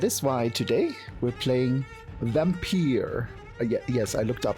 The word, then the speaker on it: Vampyr: why today we're playing Vampire yes I looked up how to pronounce it they pronounce the game vampire so we shall call